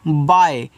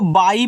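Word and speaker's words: by: बी वाई, तो इसको पढ़ते हैं बाय। बहुत लोग इसको बाई पढ़ देते हैं, नहीं, ये बाई आपका गलत, इसको आप बाय पढ़ोगे, यानी कि इस तरीके से बा और या, बाय।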